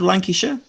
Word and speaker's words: Lancashire: see if I pronounce this correctly is it lenka Shire oh we gotta get you unmuted unmute oh okay you're muted right now there we go yeah not bad Lancashire okay Manchester's probably better for most people okay